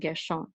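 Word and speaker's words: גרשון: So we know it's Gershon, not Gershon, because the accent mark is at the beginning of the second syllable. So it's Gershon.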